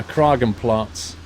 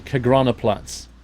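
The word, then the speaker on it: Kagraner Platz: I think I spawned in at Yeah, Karen Plats, I think it is. It says here on the left. Where is it? Yeah. Oh, sorry. Kagrana Plats. That's how you say it.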